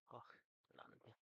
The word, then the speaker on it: Hochland: Hochland. CH is pronounced like the CH in Loch.